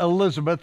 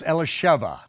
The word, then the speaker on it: Elisheva: It's not Elizabeth, it's Elisheva, okay?